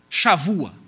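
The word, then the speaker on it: שבוע: é o conceito de Shavua. Shavua. Está um B aqui, porque em hebraico, B, dependendo da posição dele na palavra, ele tem som de V. Então, você escreve B, mas aqui pronuncia V.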